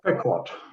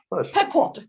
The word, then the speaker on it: Pequot: And then there's Pequot, which the summer people don't call Pequot, they call it Pequot or something. I'm not sure of it. Not Pequot. Pequot. Okay. More like Pequot.